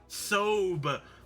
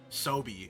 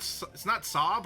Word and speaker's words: SoBe: Sobe. Is that what it's pronounced? Sobe? It's not Sob or Sobe? I said Sob. I sometimes say Sob because I thought the E was silent.